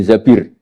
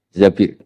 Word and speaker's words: Zabir: nikah sama Abdurrahman bin Zabir di hadis ini bukan bacanya bukan Zubair tapi Zabir Abdurrahman bin Zabir.